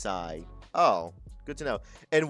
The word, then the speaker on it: Psi: Fun fact, PSI is non bay and pronounced sigh.